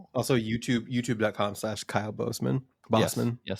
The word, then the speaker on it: Bosman: Bossman. Yes, please. But it's spelled it's spelled like B O S M. Yeah, it's pronounced like boss man, but it's but it's spelled like spelled Boseman.